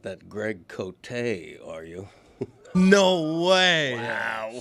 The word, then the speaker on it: Cote: Because it's always pronounced that way Cote, there. yeah. Nobody pronounces it.